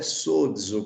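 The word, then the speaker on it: σώζω: Que a pronúncia é sozo, como eu disse, tem um Dzinho aqui, né? Que praticamente não aparece na pronúncia, né?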